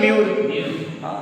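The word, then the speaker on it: mûr: We pronounce U. We pronounce letter U, na U. So we pronounce like that. Mu. Like see, very simple. Mo, ma, mi, mo. Then here we have mu, tu, ti, si, pi, po. Logic. So here mu. Here same mure.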